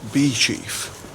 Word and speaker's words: Beauchief: place has actually spelled Bo chief apparently it's pronounced bee chief yeah so it'll be Chief Abbey what a